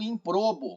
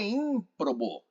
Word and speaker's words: ímprobo: Poxa, eu falo improbo, mas o certo é ímprobo.